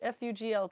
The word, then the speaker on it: Fugl: F-U-G-L. Pronounce that for me.